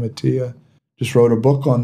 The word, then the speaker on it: Attia: Yeah, a doctor that many of us respect, Peter Attia, or Attia, I believe he pronounced his name Attia, just wrote a book on this, on longevity and markers and things you can do about it.